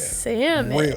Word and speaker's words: salmon: if it's salmon it's salmon absolutely like and you say it right too you going put the L in there good job good job